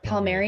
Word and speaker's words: Palmieri: as Connor Carrick, Kyle Palmieri, I think that's how you pronounce his last name. Palmieri, yeah.